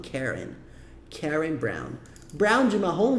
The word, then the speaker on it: Karen: Então, a gente fala Karen. Eles falam Karen.